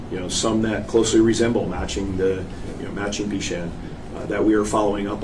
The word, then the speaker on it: Bechand: And the proper pronunciation of his last name is it Bechand? Well, that's a good question. I followed the chief's lead. I think, the major's lead. I think they pronounce it Bechand, right?